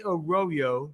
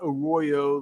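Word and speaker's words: Arroyo: And I and and and I say Aoyo because that's what he says. He likes his name pronounced, not Aoyo like the Spanish word for ditch, right?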